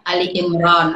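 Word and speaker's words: Ali Imran: tapi dibacanya Oh jadi makanya kita bacanya Ali Imron pada tulisannya ali-imran tapi sama aja Oh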